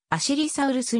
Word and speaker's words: アジリサウルス: アルファウプシロンローから日本今後のプレスなどではアジりサウルスと表記されているが発音はむしろアシリサウルスに近い知りサウルスとの